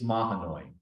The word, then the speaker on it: Mahanoy: i achieve one thing it's ma annoying it's it does not rhyme with baloney although now that i've